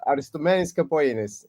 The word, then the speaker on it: Aristomenis Capogeannis: I can't pronounce it. Please, it's better if you tell it. Yeah, Aristomenis Capogeannis.